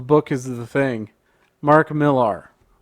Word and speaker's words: Millar: is the thing mark millar sometimes apparently it's pronounced miller whatever he made a